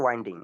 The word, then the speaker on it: winding: আর অপারেশনটা তো ওয়াইন্ডিং। আমরা কখনো উইন্ডিং বলবো না, হ্যাঁ? আমরা ওয়াইন্ডিং বলবো।